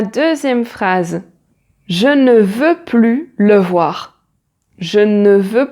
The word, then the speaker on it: plus: Ensuite la deuxième phrase je ne veux plus le voir. Je ne veux plus le voir là. Comme c'est une phrase négative, on ne prononce pas le S.